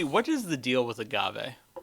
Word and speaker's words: agave: But can you tell me what is the deal with agave? Uh, well, when you read it, it was like it's pronounced agave, but it is in fact pronounced agave.